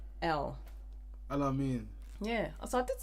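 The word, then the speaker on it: Aml Ameen: Alamin.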